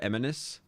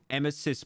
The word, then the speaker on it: Emesis: the eminis is am I saying it right eminis emesis blue it's two hours bro it's an hour